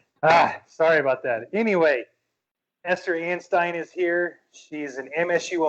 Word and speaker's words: Anstine: Anstine. There we go. I had pronounced it with an E earlier, so I just want to make sure I get Stein. like the beer stein.